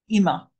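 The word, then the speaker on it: אמא: imma is my mother now look I'm saying e not I that is a d thong i e i i i pronounce it IM my mother Ima uh there quite a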